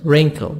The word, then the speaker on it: wrinkle: Wrinkle. W silent.